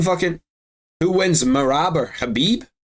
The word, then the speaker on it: Khabib: the IR flag um khabib is khabib is the real pronunciation of his name yeah but it's not like well obviously obviously khabib abib wins that fight 100 times out of 100 habib's two two weight divisions